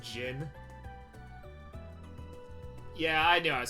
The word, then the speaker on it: Jin: Hey Zin, are you growing a soul patch or something? What's going on there? Good anti-aliasing. Awesome. Knowing Elvis, his story was about how stupid Van is. It's pronounced Jin.